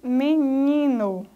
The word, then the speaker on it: menino: Por exemplo, menino. Ni é a sílaba mais forte, a sílaba tônica.